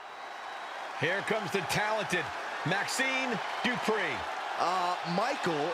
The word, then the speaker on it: Dupri: Here comes the talented Maxine Dupri. Uh, Michael, it's pronounced Dri.